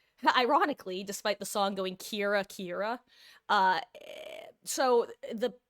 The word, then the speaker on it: Kira: Um similarly Kira literally is supposed to be killer.